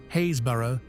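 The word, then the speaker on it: Happisburgh: Perched precariously on the crumbling cliffs of Norfolk's east coast, Hapisburg, pronounced Hayesboro, is a village quite literally disappearing.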